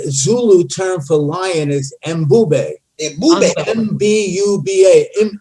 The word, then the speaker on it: Mbube: The Zulu term for lion is Mbube. M-B-U-B-A. Mbube.